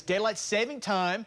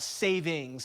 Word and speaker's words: daylight saving time: is daylight saving time I always call it savings and then I get all the text and emails and Facebook updates saying I said it wrong yeah daylight saving time okay saving time there you go Sunday this